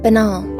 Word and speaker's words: banal: I think it's banal is how it's pronounced, right? Which means like inconspicuous, so lacking in originality as to be obvious and boring. Benol.